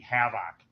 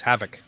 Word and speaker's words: havoc: stopping them from wreaking havoc in kenosha stop putting the emphasis on the wrong syllable it's havoc and ladies and gentlemen